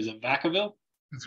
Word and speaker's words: Vacaville: I said it wrong last name, is it Vacaville?